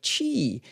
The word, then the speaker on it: Qi: very few ch2 Chargers that's spelled Qi and the number two slapped right up against the word chi and I'm saying it that way because it's really important because it's going to be confusing yeah so it's already confusing that it's spelled with a Q all right like right